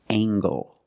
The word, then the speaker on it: angle: compare these two words we have angle spelled l e making the nasal sound and the hard G angle this is a right